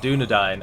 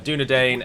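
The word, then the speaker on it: Dúnedain: sure you know it's the pronunciation of the um a i combination of letters that's present in both arthadine and dunadine and of course it is pronounced as dying as if one were to sit down and dine with us and not dane as in dane ironford whereas the gentleman called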